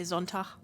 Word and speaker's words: Sonntag: Like, for instance, Sunday, Sonntag, I just say Sonntag, because a hard G doesn't exist for me after a vowel anyway.